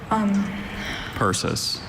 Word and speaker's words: persis: Persis.